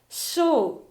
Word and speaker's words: 小: 次に、小さいという漢字の音読みは小です。